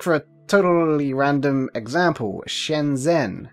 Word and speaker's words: Shenzhen: Take for a totally random example, Shenzhen. How do you say it? What's the Z doing in there? Can you just ignore the H? Spoiler warning, you can't.